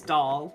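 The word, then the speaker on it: Dal: the static units because my character's name is doll not spelled like d-o-l spelled d-a-l which is like uh like the realization of like levels yeah sure um the romanization of the Korean word for moon um whoa yeah and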